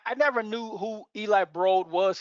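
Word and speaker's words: Eli Broad: never knew who eli brode was he pronounced it bro not broad but uh the business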